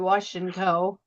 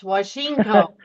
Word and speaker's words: Washinko: And I just realized, John, I'm sorry, I've been saying your last name wrong now for a while. I've been calling you Washinko, and it's Washinko.